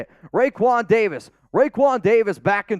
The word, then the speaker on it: Raekwon: was like that's not how you say it Raekwon Davis Raekwon Davis back in 2020 was a